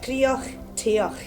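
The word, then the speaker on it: Cridhe an Taighe: of our cooking kitchen, which is pronounced Crioch Teoch, which when translated from the Gaelic origin actually means the heart of the home.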